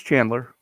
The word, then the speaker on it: Chandler: all right then chandler arizona that's not how you pronounce that but no that's that it's chandler yeah yeah um and